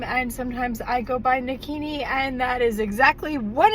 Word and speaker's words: Nakini: But, my yoga name, my spiritual name, is Nakini. Rhymes with bikini, but it's spelled n a k i n i.